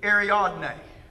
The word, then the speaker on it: Ariadne: Well, when it came to pronouncing this dog's name, it nailed Ariadne.